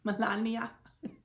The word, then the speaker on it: Melania: Melania.